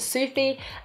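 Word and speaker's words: Sofie: Her name is Sophie with a V, but you pronounce it Sufi, and she always gives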